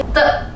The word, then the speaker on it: de: Untuk yang DE teman-teman baca te, te.